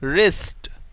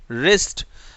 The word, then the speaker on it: wrist: चलिए next, silent W, silent W, जब डब्ल्यू और आर एक साथ हो, डब्ल्यू और आर, WRITE, राइट, राइट, WRIST, रिस्ट, रिस्ट।